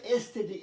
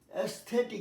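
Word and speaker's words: aesthetic: এটা উচ্চারণটা এস্থেটিক, না এস্থেটিক। কারণটা আমি দিয়েছি, এই ওয়ার্ডটা অনেক জায়গায় শুনবে সৌন্দর্যমূলক কথাবার্তা বলার জন্য, এখানে সৌন্দর্য বিষয়ক কথা। অ্যাস্থেটিক, যেমন অ্যাস্থেটিক beauty of the house, of the home, অ্যাস্থেটিক, অ্যাস্থেটিক।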